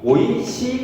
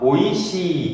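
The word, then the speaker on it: おいしい: 그래서 오가 아니라 오이시, 그 다음 요것이 장음이 되니까 오이시, 이렇게 오이시, 오바상 이런 식으로 발음을 해줘야 됩니다.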